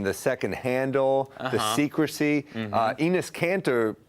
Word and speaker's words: Enes: I can only imagine how Durant could respond to someone whose first name rhymes with penis.